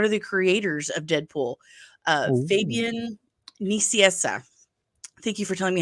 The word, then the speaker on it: Fabian Nicieza: Well, when I actually looked at the spelling, and I have to remind myself, like, yes, it's in Spanish, so it's going to be the Spanish alphabet.